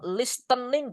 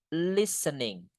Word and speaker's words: listening: Kita enggak boleh bilang listening, Guys. T-nya enggak dibaca. Oke, it's listening. Listening, listening, listening to music gitu.